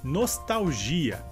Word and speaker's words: nostalgia: Em português seria nostalgia. E a diferença seria que nessa palavra em espanhol a sílaba forte seria tal, e em português a sílaba forte seria gi.